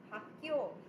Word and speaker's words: 학교: Okay, remember you have to either no stress, or if you stress in your class, it will be in the second syllable. So you would say 학교, 학교.